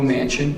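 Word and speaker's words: Manchin: My name is Joe Mansion. It's pronounced just like a big house, but it's spelled M- an A C H I N.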